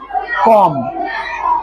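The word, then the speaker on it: comb: पढ़ेंगे सीओ एम बी कॉम देखो spelling की है सी ओ एम बी लेकिन बी को हम पढ़ेंगे नहीं बी साइलेंट रहेगा उसका उच्चारण नहीं आएगा उसका आवाज नहीं आएगा सीओ एम बी कम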